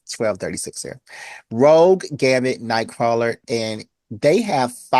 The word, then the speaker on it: Rogue: Roge, why did you say it like I'm that? tired, okay? It's 12:36 here. Rogue, Gambit, Nightcrawler, and they have four or five new mutants with them.